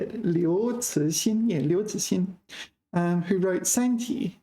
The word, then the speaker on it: 刘慈欣: 刘慈欣, yeah, 刘慈欣, who wrote Santi, the famous novel Santi, Three-Body Problem.